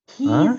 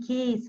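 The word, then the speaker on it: key: кейс а он задоров кис произносится не кейс произносится как ки один ключ ки а во множественном Киз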